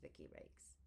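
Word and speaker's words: Vicki Lake: I actually think it's Vicky Rakes, which rhymes with Ricky Lake, which what happened to her.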